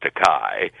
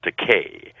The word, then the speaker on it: Takei: of my name because there is a legitimate Japanese word that's pronounced Takai, and it translates into English as expensive. But my name is pronounced Takei, and no producer likes to call an actor expensive.